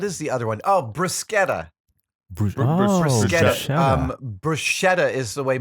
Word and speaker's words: bruschetta: Oh, bruschetta. Bruschetta. Bruschetta is the way people mispronounce it. Bruschetta is the correct Really? pronunciation. Well, there you go. That's an Anglo versus Italian thing, right?